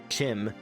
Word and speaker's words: Chim: By the way, I'm pronouncing it Kim because that's how Kirkbride said it was pronounced, and the way Lehman Tuttle said it was pronounced, Chim, as in chimpanzee, sounds worse to my ears.